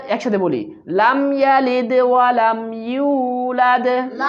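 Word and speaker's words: يولد: ওয়ালাম ওয়ালাম ওয়ালাম ইউলাদ এখানে এবিডির মধ্যে ইউ আছে ইউর ম উচ্চারণ করেন এবং এক আলিফ টান দেন ইউলাদ ইউলাদ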